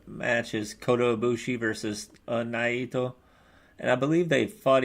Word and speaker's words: Naito: the IWGP Intercontinental match is Kota Ibushi versus Naito. And I believe they fought each other at How did you say his name? Is it Naito?